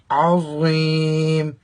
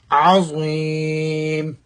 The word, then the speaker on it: عظیم: عظیم عظیم پڑھیں گے تو معنی بدل جائے گا، تو لہٰذا پڑھنا چاہیے عظیم.